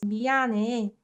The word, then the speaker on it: 미안해: So the way we pronounce 미안해, for example, was 미안해, 미안해. This h sound gets muted, right?